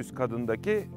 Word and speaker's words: Stadion: We are now on top of Arycanda in Stadion. Stadion or stadium, there are different sayings. What are these? Lets shortly explain that first. If you want to pronounce it right, you must use suffix -os or -on.